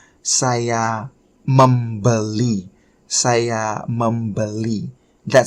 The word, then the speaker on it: membeli: you will speak more formally by saying saya membeli.